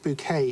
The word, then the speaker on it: Bucket: pictures denote well uh bucket pronounced bouquet in only in keeping up appearances yes if you can